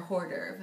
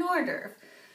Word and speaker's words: hors d'oeuvre: Notice the H, but the French don't pronounce H's, which makes sense because who would order a hors d'oeuvre? And when you want an hors d'oeuvre.